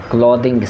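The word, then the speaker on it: clothing: ক্লদিং store, ক্লদিং store, এটা দিং আর থিংয়ের মধ্যখানে দিয়ে আপনারা উচ্চারণ করবেন, ক্লদিং স্টোর।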